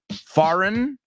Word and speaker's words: foreign: about that one is there's only one pronunciation in English forign there is a foreign